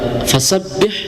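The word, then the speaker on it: فَسَبِّحْ: Nah, di situ ada ada ee di lafaz fasabbih ada tasdid ya, harus ditekan fasabbih.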